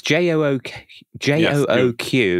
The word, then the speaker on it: jOOQ: It's J-O-O-Q, and you're pronouncing it jOOQ.